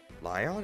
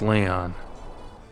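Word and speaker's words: Lyon: friend of Prince Leon lion it's spelled with a Y so it looks like Lion that's Leon that's Leon I'll do what I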